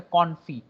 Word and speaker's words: confit: It's not confit. It's known as a confit because there is no pronunciation of your T.